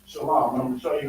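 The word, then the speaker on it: שלום: other Israelite groups saying they say shalawam shalawam when they read it in the Bible they read it as this right but even this is pronounced Shalom I'm going show you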